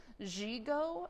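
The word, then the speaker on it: gigot: had this type of of sleeve called the zhigo sleeve it's spelled g-i-g-o-t g-go and it looks like this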